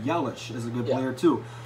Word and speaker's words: Yelich: Yes, Yelich. I mean, this is a good team. I don't want to diss on that team. That's a good team. Like he said, like Jared said, Yelich is a good player too.